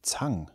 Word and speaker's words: Zang: It can be traced to one person, Austrian guy named August Zang, or okay, however it would be pronounced. It's a E-N-G? A-N-G. Zang.